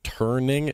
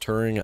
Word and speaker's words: Turing: section I kept saying turning and not turning there's no n so just so you guys know his name is pronounced Turing not turning that's just me being